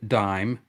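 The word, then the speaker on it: disme: was d-i-s-m-e uh in pronounced dime as we still pronounce it which came from the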